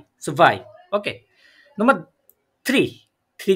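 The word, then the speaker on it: zwei: কি ওয়ান টু টু কে জার্মানিতে কি বলে সুভাই সুভাই সুভাই মানে কি ইয়া এখানে আমি একচুয়ালি সোয়াই লিখেছি কিন্তু সোয়াই না প্রোনাউন্সিয়েশনটা সুভাই হবে কারণ আমরা এই ডব্লিউ টাকে কি বলে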